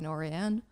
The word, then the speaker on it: Norén: Yeah, I mean, all American Norens really say Noren with the emphasis on the first syllable, and it's a Swedish name. So the few times I've been to Sweden, then they say Norén.